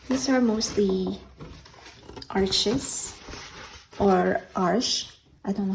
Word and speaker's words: Arches: These are mostly arches or arche. I don't know how to pronounce it. It's French. It's probably arche, but the English-speaking world would say arches.